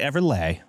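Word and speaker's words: Everleigh: I think it's Everlay. It's Leigh. So I don't think Everly. It's, Just a fun way to spell it, gotcha. I believe. It's a great name, T Money. It's Slay beautiful is name. Sleigh. So I would say Everlay.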